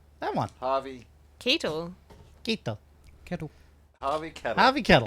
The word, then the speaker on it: Keitel: Kettle. Kettle. Harvey Kettle. It's Keitel.